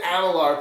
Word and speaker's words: Amalur: It was the Amalur part. I kept saying Alamar. I don't know why. So, how was Kingdoms of Amalur?